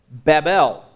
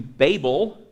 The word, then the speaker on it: Babel: And the beginning of his kingdom was Babel. That's how the Babylonians would have pronounced it. Babel means gate of the gods. It was later, in Hebrew, changed to Babel, which means confusion.